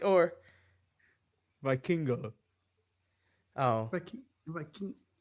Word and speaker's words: Vikingo: did he just say Vaquino? Did I mess up his name right, or Vikingo? Oh, Viking. It's spelled. I believe Vaquino is the wrong way.